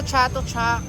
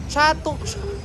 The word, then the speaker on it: Chatuchak: So guys tapos na kami rito sa Chato Chuck. Chatu Chung pronounce.